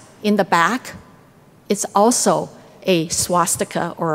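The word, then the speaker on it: 八: as well eight sometimes we will say ba eight kind of rhymes with far to prosper but in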